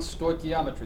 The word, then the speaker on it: Stoichiometry: is going to be covering something called compound Stoichiometry that's how you pronounce that big ugly word you got two